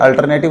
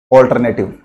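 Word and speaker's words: alternative: झाल कि अब दोस्तों इस प्रकार जो उच्चारण है पेंशन उसका थोड़ा ध्यान रखना यह अल्टरनेटिव नहीं होता है इसको हम क्या बोलते हैं जनरली ऑल्टरनेटिव कौन सा कंडीशन होगा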